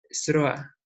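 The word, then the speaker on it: זְרוֹעַ: Fíjense las letritas. Se lee Sroa, ¿sí? Pero de la misma manera, con las mismas letras que les he puesto abajo, se escribe Sera. ¿Y qué es Sera? La simiente. Solamente cambian las vocales, ¿sí?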